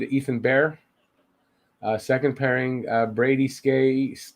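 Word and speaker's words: Skjei: Second pairing, Brady Skay. I don't know how you pronounce that. Brady Shea, I think it's pronounced. That's right.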